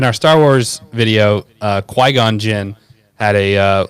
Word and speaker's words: Qui-Gon Jinn: wise line and uh but Matt could never say his name right, so he always called him Bygon Jinn. I honestly didn't I honestly thought Bygon Jinn was correct.